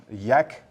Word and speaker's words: YaK: DBI Services is announcing Yak do I pronounce that correctly 2.0 yeah correct um so before we dive into that uh new features and um everything that's going on with Yak could you start by